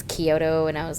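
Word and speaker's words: Chiodo: for the longest time I was pronouncing it with the CH so like chiota brothers and then they said their own name and it's Kyoto and I was like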